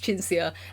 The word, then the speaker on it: Cinzia: Yes, my name is Cinzia, and...